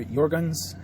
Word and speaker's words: Jergens: My wife likes Jergens or Jorgens. It depends on how you pronounce it. Jergens or Jergens. We call it Jergens.